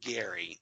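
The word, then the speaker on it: Gerry: that's that it's spelled GE rry but he pronounces it Gary so that just kind of stuck in my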